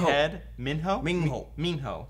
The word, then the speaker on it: Minho: I said Minho when I read it in Mingho. my head. Minho? Mingho. Minho. That's how they pronounce it in the book.